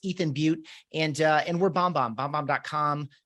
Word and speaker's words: Beute: prefer to buy books my name is ethan butte last name is spelled b-e-u-t-e and i'm on most of the